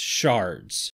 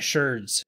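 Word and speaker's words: sherds: it my fix for the shards I'm saying shards because I found out even though it's spelled shirts yeah it's still pronounced shards I saw a lot of people calling it shirts and videos and go yes the name changed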